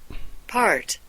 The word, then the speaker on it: part: part, part, 자, 우리말에는 이 R 사운드가 없어서 이거를 잘 못하는데 반드시 이걸 해줘야 돼요. R 사운드를.